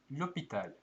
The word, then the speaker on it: l'hôpital: ausgesprochen O Akzent circonflexe L'hôpital - Akzent circonflexe gibt den alten und die Position des Buchstabens c Krankenhaus h wird nicht ausgesprochen Le chômage - Arbeitslosigkeit.